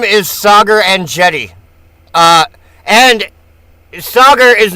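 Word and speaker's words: Saagar Enjeti: And today, we have Sagar Anetti, who is the host of Breaking Points, a popular political YouTube news and podcast show. She mispronounced it. 1 billion. His name is Sagar Anetti.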